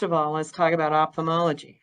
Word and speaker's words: ophthalmology: So first of all, let's talk about ophthalmology. How do you spell it?